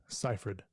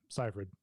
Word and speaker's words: Seyfried: Seyfried. Mm-hmm. That's how you say your last name? Seyfried.